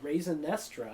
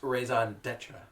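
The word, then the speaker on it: Raison D'Etre: the seller and the raisin estra I think is up next actually Alex it's pronounced raison Detra and this is raison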